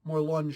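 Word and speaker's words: Morlun: point dun dun dun more lunge shows up yes it's pronounced more LUN and um right away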